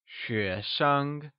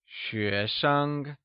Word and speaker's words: xuésheng: xuésheng uses the mid rising tone on xué and a neutral tone (5th tone) on sheng Lets hear you say xuéshengOnce again, its xuéshenggreat!